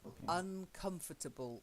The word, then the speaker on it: uncomfortable: And the last one, that ubble at the end. Okay, it's not table. I know it looks like table, so a table, but it's uncomfortable or comfortable.